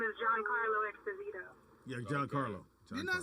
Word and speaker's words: Esposito: Didi was trying to say his name is Giancarlo Esposito. Yeah, John Carlo. Didn't I say Exposito?